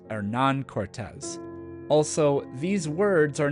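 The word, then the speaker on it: Hernán Cortés: said them for example monuma and Hernando Cortez were not their given names they were motosa and Aran Cortez also these words are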